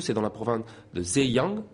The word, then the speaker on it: Zhejiang: Vous venez de Wenzhou, c'est dans la province de Zhejiang, je prononce correctement. C'est ça, Zhejiang.